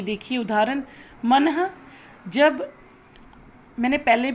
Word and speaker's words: मनः: जैसे मेरे प्यारे बच्चों, ये देखिए उदाहरण, मनः। जब मैंने पहले भी आपको बताया है कि यहाँ जो लगता है विसर्ग लगता है तो वहाँ ह का उच्चारण होता है।